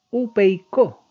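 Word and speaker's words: ὑπείκω: está viendo ahí que se llama o se pronuncia upeicó.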